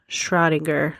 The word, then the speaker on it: Schrödinger: found on YouTube says that you pronounce it Schrödinger. Ugh, I am just so stupid right now. But, because I'm American, Schrödinger is probably the right way to pronounce it.